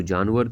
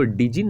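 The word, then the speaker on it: djinn: है, even the clever जिन, इसको डिजिन नहीं पढ़ना है, बहुत सारे बच्चे इसको पता है क्या पढ़ेंगे, डिजिन पढ़ेंगे। तो यहाँ पे डी जो है ना बिल्कुल साइलेंट रहेगा बाबू।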